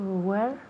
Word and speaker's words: wear: Now, este verbo to wear se pronuncia igual a la palabra donde en inglés, right? Tiene la misma pronunciación.